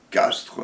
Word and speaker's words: Castries: erreurs de même type on dit donc duc de Castres mais ça s'écrit Castries et d'autres choses talents et